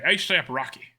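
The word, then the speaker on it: A$AP Rocky: the number of eight do you pronounce it or do you just pronounce the dollar sign as an S when I say that I could say a dollar sign AP Rocky or I could say ASAP Rocky oh okay ASAP Rocky so first again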